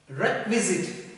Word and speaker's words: requisite: But here, when you pronounce this word, it is not requisite, we have to pronounce it like requisite.